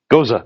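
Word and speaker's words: Gose: good I forget how to pronounce it but go say or something like that that was actually with the same kind of yeast Goza thank you they they made it with the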